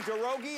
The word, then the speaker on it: Garogi: Let's meet our first person, Garogi. Am I saying that right? Yes, you are. Garogi?